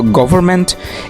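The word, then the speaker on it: government: তোমরা অনেকে গভর্নমেন্ট বলে থাকো। সো গভর্নমেন্ট এটিও অশুদ্ধ উচ্চারণ। সঠিক উচ্চারণটি হলো গভর্নমেন্ট। আশা করছি তোমরা পার্থক্যটা বুঝতে পারছো। গভর্নমেন্ট, নট গভর্নমেন্ট।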